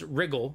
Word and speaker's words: Riel: The county of Riel, pronounced Wrigle.